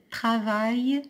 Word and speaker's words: travaille: Le menuisier travaille dans son atelier. Je relis la phrase. Le menuisier, UI se prononce oui, S entre deux voyelles se prononce Z, IER se prononce Y. Travaille, A-I-L-L-E se prononce I, IER se prononce Y.